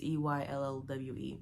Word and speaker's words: Eyllwe: It's like Ilwe? It's Eyllwe.